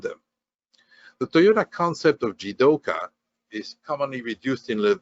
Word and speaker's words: jidoka: moves by itself and it's pronounced jidoka if you attach the radical for human to the kanji for move you get the kanji for work and it's pronounced the same so the toyota world